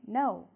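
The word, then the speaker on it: know: route in american english number six no k-n-o-w also is pronounced the same way no so those are homophones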